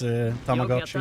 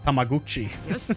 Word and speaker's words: Tamagotchi: But in reality, it's Tamagotchi, you know? Tamagotchi? Is that the name? Growing up, everybody said Tamaguchi, where I live, so the pronunciation of that word is absolutely cursed in my brain.